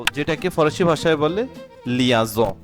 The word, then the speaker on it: liaison: স যেটাকে ফরাসি ভাষায় বলে লিয়াজ। উচ্চারণটাও হবে লিয়াজ।